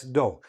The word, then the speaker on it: dough: Like when you put flour and water together and mix them and you have that pasty stuff, that's dough.